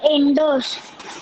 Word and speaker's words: Indus: Indus. Indus. Indus. Hmm. I know there is a U, but we pronounce it as Indus.